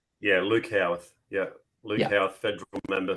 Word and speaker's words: Howarth: you yeah um I realize I pronounced your last name WR so it's it's howorth correct yeah Luke howth yeah Luke howth Federal